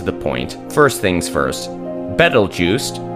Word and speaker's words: Betelgeuse: point first things first battle Juiced often pronounced like Beetlejuice comes from an Arabic